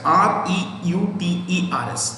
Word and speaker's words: Reuters: a group and a foreign company called writers r-e-u-t-e-r-s what is it reuters like their rooters but pronounced reuters so r e u t e